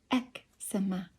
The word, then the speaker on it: eczema: one of my relatives e-c-z-e-m-a has three pronunciations ex-ema so she's saying it right i'm saying it right